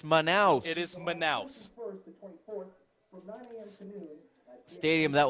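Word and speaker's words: Manaus: let me just say I've heard that word pronounced a million ways this week by the international media it is manous it is manous stadium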